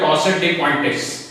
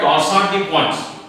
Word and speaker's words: torsades de pointes: ये French term है इसलिए इंडियंस इसको प्रोनाउंस करते हैं टॉर्साड डी पॉइंट्स, but actually it is French term usually pronounced as टॉर्साड डी पॉइंट्स.